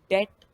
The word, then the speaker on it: डेट: वो एक इनकरेक्ट या गलत प्रोनाउंसिएशन है उसकी। तो उस केस में आप डेट बोलेंगे तो ज़्यादा बेहतर रहेगा, क्योंकि वही इसकी सही प्रोनाउंसिएशन है।